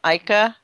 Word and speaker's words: Ica: Well, a lot of the stones from Ica, Peru is how they pronounce it, at least that I heard.